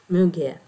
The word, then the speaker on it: muguet: One of my watchers gave me the right pronunciation of Muguet in French, Muguet.